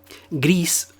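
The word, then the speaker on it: Gris: be something pretty special Greece like that's how you pronounce it is indeed extremely special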